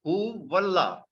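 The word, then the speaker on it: هو الله: This alif is Hamzatul Wasal. We will pronounce this waw with the lam, huwallah.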